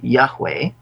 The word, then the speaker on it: Yahweh: Now, this is pronounced in Hebrew Yahweh. Some people have pronounced it Jehovah. But this is referring to Yahweh, the God of the Israelites, in Exodus, when he delivered them from Egypt.